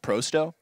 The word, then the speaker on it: pro100: thing is it's it's it's spelled Pro 100 right but it's pronounced proo So Pro so I